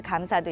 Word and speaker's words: 감사: 여기서 주의해야 할게 요 고마움을 나타내는 감사를 말할 때는 감사 이렇게 감을 길게 발음을 해야 합니다 그럼 반면 단체 사무를